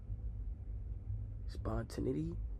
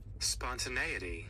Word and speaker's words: spontaneity: Spont, how do I pronounce that? Spawn. Spontinity.